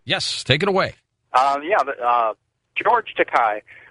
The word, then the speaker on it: Takei: George Takei. Pronounced Takei.